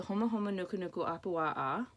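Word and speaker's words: Humuhumunukunukuāpuaʻa: This is a Hawaiian fish called the Homa Homa Nuku Nuku Apua'a.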